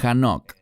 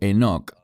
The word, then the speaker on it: Enoch: En la universidad nos mandaron a leer los libros apócrifos y el libro de Hanoch, o Enoch, como lo quieran pronunciar.